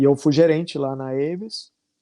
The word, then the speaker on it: Avis: Talvez as pessoas pronunciem como Avis. Eu sei que tem no Brasil, porque eu já aluguei carro da Avis no Brasil, mas é Avis, né?